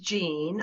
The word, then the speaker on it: Jeanne: thank you so much my name is pronounced Jean I know you okay I'm sorry about that but it's actually French word and we just say to you Jean I'm Jean I